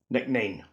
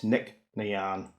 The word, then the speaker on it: Nc'Nean: Nc'nean. Wrong. It's Nc'Nean. That's the proper pronunciation.